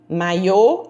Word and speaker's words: maiô: nessas correções letra f maiô e maio olha aí maiô estou tratando de uma peça de roupa de banho maio eu estou tratando de um mês do ano então um assento e a pronúncia muda toda todo o contexto então vamos ler as